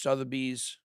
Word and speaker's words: Sotheby's: sold for over 12 million in the first Sotheby's, that's how you pronounce it, sale denominated in ETH. You sure you don't want to find a different way to pronounce it just for fun? Sotheby's.